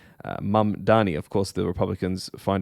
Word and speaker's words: Mamdani: The Democratic nominee uh for the New York mayoral race is a gentleman called Zaharan Mamani. Mam Dani. Of course, the Republicans find a way to uh always mispronounce his name.